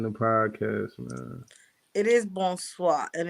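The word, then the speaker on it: bonsoir: hours away watching the podcast man it is bone swap and it's spelled b-o-n-s-o-i-r never arguing with somebody from france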